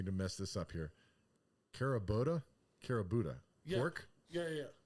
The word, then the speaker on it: Kurobuta: Kurobuta, Yeah. pork. Yeah. How do you pronounce it? I always mess it up. Kurobuta.